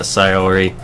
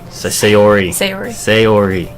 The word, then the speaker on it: Sayori: the crosswalk and let Sayori catch up to me. Sayori. It's like say-ori. Are you sure that's how you're supposed to pronounce it? Yes, everyone says Sayori.